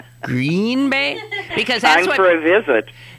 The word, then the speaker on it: Green Bay: I did I said Green Bay Green Bay because that's for a visit that's what people say who that's how mostly people pronounce it they they put the accent on the adjective and if you think